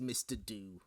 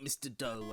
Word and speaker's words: Mr. Do: I did check, by the way, it is pronounced Mr. Do. It's not Mr. Doe, as I had thought previously.